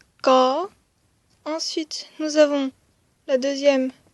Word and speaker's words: ក: première c'était corps donc qui se prononce comme ceux-ci corps ensuite nous avons la